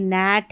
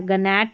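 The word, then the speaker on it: gnat: यहां पर देखिए नैट है। गैट नहीं पढ़ेंगे।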